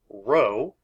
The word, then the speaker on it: rho: is a Greek letter rho rho pronounced like r-o-w row and it looks a